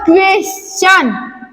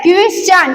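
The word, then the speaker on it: question: टी के आगे यू आर ई और एस के आगे टी आई ओ एन अगर रहे तो इसमें टी का उच्चारण च पढ़ते हैं। यहाँ पे इसको क्या पढ़ेंगे, क्वेश्चन, क्या पढ़ेंगे, क्वेश्चन।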